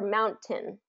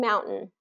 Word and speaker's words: mountain: talking about is there it's usually not pronounced as cotton cotton or Mountain okay with that t sound in there it's usually cotton and Mountain okay do you hear